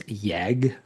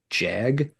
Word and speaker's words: Jag Panzer: It's just what I'm used to saying because of the German origin of the name.